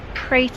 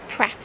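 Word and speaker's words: Prater: t e r now we don't know if that's pronounced prer or Pratt I think Double T might indicate Pratt I go prer yes so we'll call him Joseph prer apologies if we have that pronunciation wrong somebody that's done a lot of research Hannah eustus confirms that it was Joseph prer he was the son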